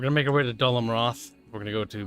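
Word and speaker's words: Dol Amroth: right we're going to make our way to dulham roth we're going to go to ministers oh wow actually kyle is pronounced like doll amroth there is quite a few little gondorian stacks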